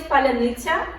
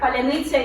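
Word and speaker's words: паляниця: on the checkpoints, they would ask a person to pronounce a particular Ukrainian word, and this word is palanitsa. And a Russian speaker, they just cannot pronounce this word. The way the letters are put together, palanitsa is difficult for them.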